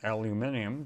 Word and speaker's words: aluminium: they built everything out of uh aluminum or aluminium depending how you want to pronounce it uh you don't know i mean